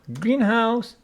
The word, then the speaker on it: greenhouse: us what it is greenhouse with the stress on the first syllable it is greenhouse what is it it